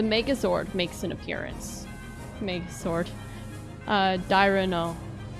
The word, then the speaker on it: Dairanger: Dairano, I think is how it's pronounced.